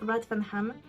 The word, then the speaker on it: Rathfarnham: d'une ville qui s'appelle Rathfarnham. Si jamais vous savez pas, parce qu'avec mon accent, c'est pas sûr. En plus, il le prononce... comment le TH, il le prononce différemment, donc je vais commencer